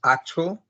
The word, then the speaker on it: actual: Um, the fifth is actual. I count 2 syllables, and I think the stress is in the first one.